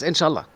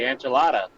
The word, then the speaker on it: inshallah: Yes, inshallah. Do you say that all the time? Yeah. So you say enchilada. No, inshallah. Inshallah.